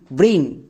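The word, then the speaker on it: brain: সো এরকম করে যদি আমরা এই সাউন্ডগুলো মনে রাখতে পারি, আমাদের উচ্চারণ এবং রিডিং একদম সহজ হয়ে যাবে। যেমন বি আর এ আই এন, ব্রেইন।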